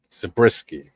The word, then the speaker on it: Zabriskie: Yeah, Ray Wise and Grace Zabriskie, right?